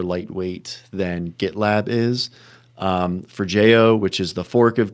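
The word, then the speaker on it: Forgejo: One of the uh both git t and forjo is how did you pronounce it?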